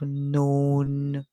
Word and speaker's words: known: Rain our next word K and N together K silent and makes the sound so we hear n o o and W make the sound O then we hear n remember W can also makes the song our but in this word we hear o so let's put it all together n o no so we have the word no and then we just add n to it so we have known